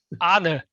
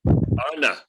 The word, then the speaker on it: Arne: Arnie? Yes. Is it Arnie or Arn? Arne. Arna. Yeah. In my head, it's Arn, but that's because I speak English, so I just tend not to pronounce letters.